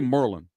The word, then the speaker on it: Maryland: know how to say Maryland you guys know how to say it like they say it there how do they say it there they say Merlin Merlin they say Merlin